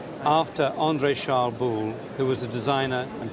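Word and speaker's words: Boulle: u l l e right after Andre charl bull who was a designer and Furniture maker working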